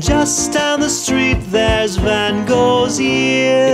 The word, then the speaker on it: Van Gogh: And just down the street, there's Van Gogh's ear. It's pronounced Van Gogh.